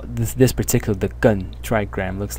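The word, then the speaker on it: 艮: which is this one over here and the pronunciation of this part is gun in the fourth tone and its meaning is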